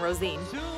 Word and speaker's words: Rosine: go down to rosine cemetery that's how you pronounce the town rosine and see bill's uh grave and so here